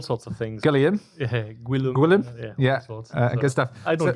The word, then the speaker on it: Guillaume: Yeah, Guillaume. Yeah. Good stuff. I don't get offended anymore. It doesn't. The way you spell it out isn't the way it's pronounced at all, though, is it?